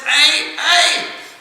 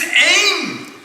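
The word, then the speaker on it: ऐं: Remember, Satyavrat said, ay. And Saraswati came and said, that's not how it's pronounced. It's aim. It's not a.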